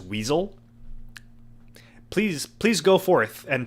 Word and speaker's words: WSL: But it's OpenWrt just like WSL on Windows is weasel.